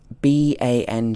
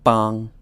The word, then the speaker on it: bang: Eng so for example ba ng you would expect this to be pronounced as bang if it was something like English but actually it's ba not bang but bong and the Eng sound